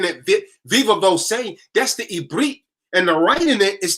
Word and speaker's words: Eberith: We never had a language called Hebrew. It's the Eberith, to say it properly. This is why when I be Akmevin Eberith, I don't say Akmevin Hebrew. Akmevin Eberith. Atamevin Eberith. Ken, sa. Animevin sa Eberith. Yeah, speak a little Hebrew. We don't say Hebrew, it's Eberith. That's the proper pronunciation.